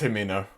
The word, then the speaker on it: Himeno: It's Himeno.